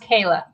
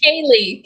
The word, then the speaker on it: Kier-La: Just so you know, my name's pronounced Kayla. Kayla. Oh, wow. Why did I say it? I think you said Kaye. Kaye. Kay.